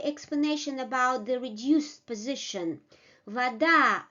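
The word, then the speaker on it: вода: about the reduced position Vada ah is under stress and we give the full quality of this ah is under stress and we give a reduced quality of this vowel Vada Vada the stressed vowel comes with its full quality Zao this is a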